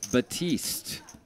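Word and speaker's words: Baptiste: It's a silent P in the middle of his name.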